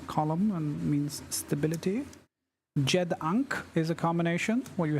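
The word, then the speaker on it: ankh: which is the column and means stability Jed ank is a combination where you have the an and uh Jed combined and it means like life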